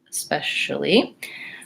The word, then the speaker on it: especially: and we'll see what they have to say especially and so what they're showing is the especially